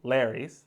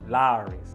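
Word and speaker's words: Lawry's: off you got to make sure you say it right it's not larry's is lowry's like mike lowry that's mike lowry over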